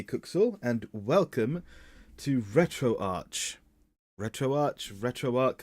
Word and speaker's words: RetroArch: to retroarch retroarch retroarc I'm not sure which it's supposed to be um I'll go I've been going with retroarch this whole time I've recently heard John Lindemann off digital Foundry pronounce it as retroarc but I'm I'm going to stick with what I know which is retro watch now I've been talking